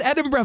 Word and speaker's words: Edinburgh: In Glasgow, and I used to pronounce Edinburgh. Oh yeah. I'm like, how do you get Edinburgh from that?